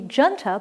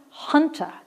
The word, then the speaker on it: junta: like it should be Junta but it's pronounced Hunter and I've forgotten my Spanish so I have to keep remembering that this has a Spanish pronunciation the J is an H Hunter is a ruling group